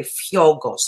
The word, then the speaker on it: Fiogkos: saying your name is fiocos which is the right way to say it the second way fyogos like oh yeah the k is silent so it's just you would pronounce the g oh really the k